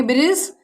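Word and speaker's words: bridge: जी से पहले आया डी साइलेंट होता है। जैसे यहाँ पे हम देखते हैं जी से पहले हमारा क्या आया? डी, तो डी क्या होगा? हमारा साइलेंट होगा। ए डी जी ई, जी से पहले डी, इसे पढ़ेंगे ब्रिज, एस, हैज, वेज।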